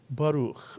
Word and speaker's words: Baruch: Two vowels, two syllables. The word is Baruch, Mitzuyan, and it means blessed.